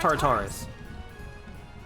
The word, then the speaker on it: Tartarus: time of just sort of spiraling into hotfix Tartarus, if I'm allowed to say that. Tartarus is a pony term, yes. Yeah. Okay. It's pronounced Tartarus.